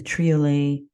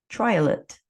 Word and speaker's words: triolet: the established form of the triolet or if you want to rhyme it with Violet trial it you can decide on your pronunciation this is a wee